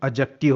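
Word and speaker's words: adjective: Guys, यहाँ पर D silent होता है, इसीलिए इसका correct pronunciation international phonetic alphabet के अकॉर्डिंग इसका करेक्ट प्रोनाउंसिएशन एडजेक्टिव होता है।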